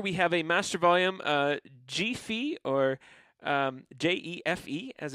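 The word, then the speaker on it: jefe: And then over here, we have a master volume G-fe, or J-E-F-E, as it's spelt.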